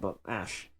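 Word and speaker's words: Ashe: I mean, it's Ash with an E at the end, but Ash.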